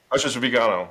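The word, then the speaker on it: Viganò: and the arch uh I keep I keep butchering his name because I'm saying Vigano but it's tell me again the pronunciation Vigano.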